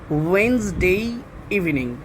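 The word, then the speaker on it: Wednesday: Last one, শেষের প্রশ্নটা, শেষেরটা কি আছে, I will see ইউ ওয়েন্সডে evening, এই ওয়ার্ডটাকে ওয়েন্সডেই বলবে। এখানে ডি যে রয়েছে এটাও কিন্তু সাইলেন্ট, ওয়েন আর এই যে ইএস এটা জা সাউন্ড হবে, জা, তাহলে ওয়েন্সডে ইভিনিং।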